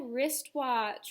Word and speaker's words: wristwatch: o n g five wristwatch we have two silent letters here at the beginning and at the end so the first word